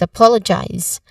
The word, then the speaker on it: apologize: So the final syllable, eyes, It sounds like eyes, but with a buzzing sound instead of hissing. There's a diphthong here, I. So eyes. Again, eyes. Apologize. Apologize. Apologize.